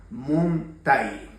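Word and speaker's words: muntay: A esta acción se lo llama muntai, ¿ya? Muntai. Puede ser que en algunas regiones lo pronuncien de una manera diferente, que eso es válido en su totalidad.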